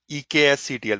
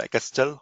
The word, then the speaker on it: eksctl: called a utility called EKSCTL, which is called Kestel or EKSCTL, whatever way you want to pronounce it.